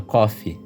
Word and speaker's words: Coffe: Coffe, mais conhecida como pelos íntimos, tem o seu nome inspirado no café. A pronúncia é a mesma, cofe.